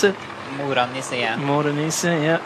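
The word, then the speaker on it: Mora-Nisse: Is that how you pronounce it? Morenisse, yeah.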